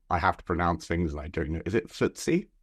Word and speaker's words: FTSE: Is it FTSE? THUTSE? Is that how you pronounce it? Yes. Sorry? FTSE.